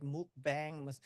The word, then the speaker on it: mukbang: And mukbang is normally pronounced like mukbang. It's totally different from the original sound, but that is commonly accepted by American community people.